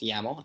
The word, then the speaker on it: YAML: It's going to look at environment.yml, pronounced YAML actually, and using that recipe,